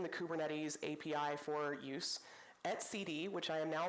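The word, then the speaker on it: etcd: responsible for exposing the kubernetes API for use at CD which I am now pronouncing correctly in this talk which is a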